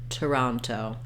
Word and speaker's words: Toronto: stressed syllable and then you notice that I didn't say Toronto or two ronto this first o because it's in an unstressed syllable is going to be a vowel schwa and it sounds like uh Toronto so I also say